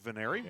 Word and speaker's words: Veneri: We had forgot to put the last syllable on Veneri's name earlier, but it is Veneri.